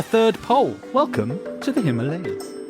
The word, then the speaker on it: Himalayas: heck is the Himalayas well you say the Himalayas but apparently locally it is pronounced Himalayas no way that is something I discovered and